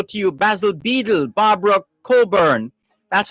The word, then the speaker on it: Cockburn: you basil beedle barbara coburn that's how that name is pronounced c-o-c-k-b-u-r-n it's spelt cockburn but pronounced coburn c-o-c-k-b-u-r-n it's colburn and